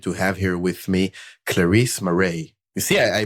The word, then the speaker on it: Clarize Marais: i'm really excited to have here with me clarisse moray you see i pronounce it right uh performance marketing lead at